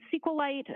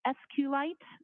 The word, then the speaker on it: SQLite: how is that spell it is capital SQL lowercase i t and sqlite uh is also commonly pronounced as esite so both pronunciations are acceptable now once you receive